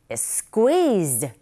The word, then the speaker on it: squeezed: 여러분, is, squeezed, is 겹자음이거든요. 앞에 있는 s 발음 하지 마시고 그대로 넘어가서 squeeze로 발음하시면 돼요. 그런데 중요한 것은 squeezed가 아니라 squeezed 이렇게 발음하시면 됩니다.